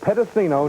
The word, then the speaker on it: Pedicino: And since this is my first time here on Worldwide Wrestling, I'm going to pronounce it for everybody. It's Joe Pedicino Knows.